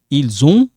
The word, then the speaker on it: ils ont: So it sounds like zon.